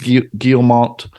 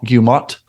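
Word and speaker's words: Guillemot: investor call CEO Eaves guillemont uh I'm sorry guilla gilmat I think it's the L is silent responded to an investor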